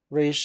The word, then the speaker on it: Ra's al Ghul: Raish is the correct pronunciation, but there is that wrong one, so